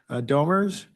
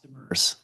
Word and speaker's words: Demers: And I'd like to call on Domers. Am I pronouncing it correctly? It's Demers.